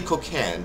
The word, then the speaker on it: Kokand: like i'm sorry man you sound like cocklin but you're really cook hand so kokand is actually a good name kokand i like that cocaine also somebody